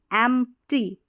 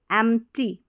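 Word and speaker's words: empty: को न puppy puppy एमटी एमटी एमटी तो पी यहां पर साइलेंस आ रहा है एमटी एमटी एमटी एमटी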